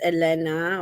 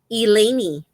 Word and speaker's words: Elaine: name in um uh in Spanish is not it's I I thought it was Elena or but it's not it's um elany it's called It's pronounced elany elany I there that sounds